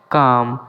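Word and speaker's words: calm: কাম। এখানেও এল এর উচ্চারণটি করা হয় না।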